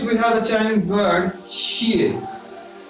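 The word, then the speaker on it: 谢: For this, we have a Chinese word, xie. X I E. In Chinese, X is pronounced as sh.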